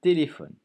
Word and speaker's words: téléphone: Un téléphone. Beaucoup de syllabes, hein, 4 syllabes. Téléphone. Un téléphone. Attention, lettre muette à la fin.